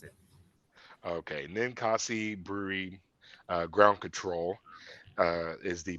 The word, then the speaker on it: Ninkasi: I we were speaking about this before recording, and I mispronounce the name every time. What is the brewery again, there, Dan? I believe it is Ninkasi is how they pronounced it. Okay, Ninkasi Brewery.